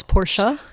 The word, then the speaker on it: Porsche: between those three probably Porsche and by the way I think the correct ger German pronunciation is porsa you have to yeah